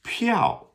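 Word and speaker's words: 票: Like a tra a ticket like a movie ticket or a train ticket is pow. P I A O fourth tone.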